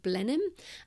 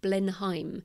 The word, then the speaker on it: Blenheim: for example there's a an English place called blenham um but it's actually my American narrator pronounced it Blenheim uh because that's how it's spelled that's one